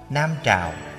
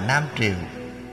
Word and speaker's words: Nam Trào: Nam Trào cũng đọc là Nam Triều, tức là triều đình nhà Nam.